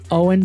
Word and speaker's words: OWYN: Owen brings together the essential elements of advanced nutrition, amazingly clean ingredients, functional superiority, and uncompromised taste.